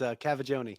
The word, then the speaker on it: Cavaggioni: It's Cavaggioni. Cavaggioni.